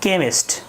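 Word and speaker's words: chemist: একটু ব্যতিক্রম আছে, যদি সি এইচ এর পরে ই থাকে তাহলে আবার ক এর মতো উচ্চারণ হয়, যেমন কেমিস্ট।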